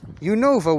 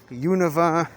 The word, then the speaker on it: Unova: uno of a week never really been 100 sure on how to pronounce the name of this region the universe region univa unova not again not 100 sure on the pronunciation but um i know